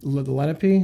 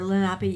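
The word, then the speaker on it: Lenape: down written that um Lenipe, that's how you pronounce them. Yeah. Lenipe or Lapi.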